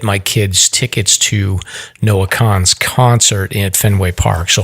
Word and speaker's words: Kahan: So I think we blew it and said it's Kahan. Yeah. But it's actually Khan.